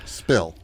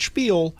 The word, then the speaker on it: Spill: So, just to recap what we got coming up, we've got the Chili Spill, Spill. not Spiel, I know.